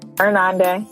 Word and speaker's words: Irnande: Irnande, I did it right? Did I do it right? Irnande, yeah. Irnande, okay.